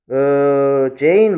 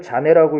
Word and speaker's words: Jane: Jane loves me. Jane loves me. 이제 영어로 처음 배우는 사람이 Jane을 자네라고 읽을 수가 있습니다. 자네. 자네가 아니고 Jane.